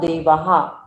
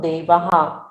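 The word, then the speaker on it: देवाः: न देवा, इसमें 2 बिंदु आगे है, ह का उच्चारण जरूर आएगा। न देवाहा, पढ़ लीजिए सभी लोग। न देवाहा, हाँ, न देवा यानी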